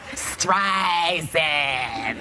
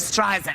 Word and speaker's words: Streisand: Siri that kept like pronouncing her name wrong calling her strife instead of striving and Apple said they're